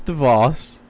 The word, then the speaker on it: DeVos: Do we have mispronounces? It's DeVos.